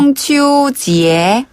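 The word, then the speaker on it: 中秋节: 쫑 발음할 때는 중국 할 때 그 중국어 할 때 쫑이랑 발음이 같아요. 중국어. 중추지에.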